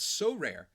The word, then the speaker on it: Sorare: Our new sponsor, So Rare, and that's 2 syllables.